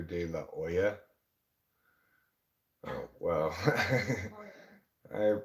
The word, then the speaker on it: De La Hoya: those films in Spanish I don't think they pronounce the letter H so it would be Oscar De La Hoya oh wow I pronounce it Oscar De La Hoya I find him particularly